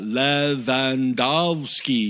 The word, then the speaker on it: Lewandowski: what he what's the phonetic pronouncement yeah phonetic pronunciations you know uh la vandovsky you know that kind of thing and i